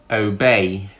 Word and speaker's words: obey: If I have the word obey, obey, obey. What syllable is actually stressed when I say obey? It's actually bay, obey, obey.